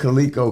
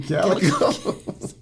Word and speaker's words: calico: said cico she said do you mean Calico I didn't know that word I never heard of a calico cat so cico is wrong cico is wrong yeah